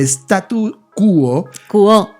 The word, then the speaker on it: statu quo: semana me ha explicado, el statu quo, lleva acento en la O, de todo esto es...